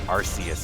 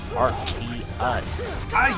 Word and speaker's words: Arceus: My biggest pet peeve is Arceus. People keep pronouncing it Arceus. I'm like, no, it's not Arceus. It's Arceus. Okay.